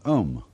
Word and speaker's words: om: mantras is of course the sound om that sound is used because if you spell it out a u m it runs from the back of your throat to your lips and therefore it contains the whole range of the voice and for that reason